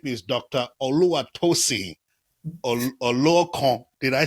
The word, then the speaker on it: Oluokun: Oluwatosin Oluokun. Did I say well? Yes, Oluokun.